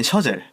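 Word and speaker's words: Chazelle: 오늘의 소개해드릴 분은 다미안 셔젤이라는 데미안 셔젤 이렇게 네.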